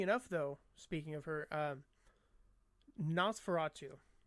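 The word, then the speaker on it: NOS4A2: Funny enough, though, speaking of her, Nosferatu. It's a new TV show based on, it's spelled NOS, number 4, A, number 2, and it's written by Stephen King's son, Joe Hill.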